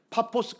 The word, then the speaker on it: 파포스: 가로지르면서 복음을 전하고 예 바보같지 왔어요 파포스 예 발음을면 파포스 아지 왔는데 여기가 누가 거주하는 지역입니까 예 여기